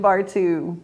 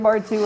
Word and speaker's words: Bartoo: It's time for another episode of What's New at the Zoo with Jim Bartoo. I love that your name rhymes with zoo.